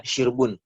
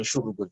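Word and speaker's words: شرب: Dibacanya syirbiha, syirbun. Bukan syarbun, juga bukan syurbun. Karena dalam Al-Quran dibaca syirbun.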